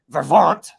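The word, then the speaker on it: Vervaunt: to say it correctly, Vervant. Is that right, Paul? Absolutely. Is that the right emphasis? It's the vont. Exactly. Like going up.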